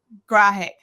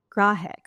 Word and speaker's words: Grahek: How do you pronounce your last name? Is it Grahek? Grahek. Grahek.